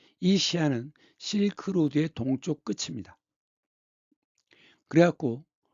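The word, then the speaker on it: 西安: 지금 무리 발음으로는 서안이라고 있죠. 중국발음은 시안인데이 시안은 실크로드의 동쪽 끝입니다.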